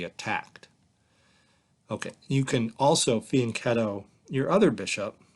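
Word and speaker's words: fianchetto: you the word faneto it's an Italian word and it's got a hard C sound so fan ketto and you can faneto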